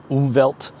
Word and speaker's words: Umwelt: It's a German word, so it's really pronounced something like Umwelt.